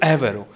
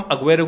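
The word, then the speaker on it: Agüero: देता हूं, इट्स सर्खियो एवेरो। Argentina में अगर आप अर्जेंटीनियन स्पैनिश देखोगे, इट्स सर्खियो एवेरो, बट हम अग्वेरो को गलत नहीं बोलते, because this is हाउ we talk about that, ठीक है?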